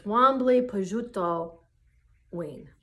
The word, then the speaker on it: Wambli Pejuta Win: It's Wambli Pejuta Win, which means eagle medicine woman.